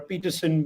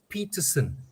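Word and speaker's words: Pietersen: must point this out he is peterson kevin peterson is not peterson he's peterson okay and it gets pronounced incorrectly it's peterson which is an afrikaans and peterson is an english surname all right thanks for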